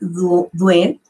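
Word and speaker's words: Dehaene: un neurocientífico muy reconocido el apellido se escribe de jaén pero se pronuncia un buen y ha hecho muchas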